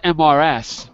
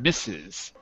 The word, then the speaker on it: Mrs.: It's spelled MRS, but in fact it's pronounced Mrs. Mrs. So Miss and Mrs. I just wanted to hear you say those two words. They both have the short I sound.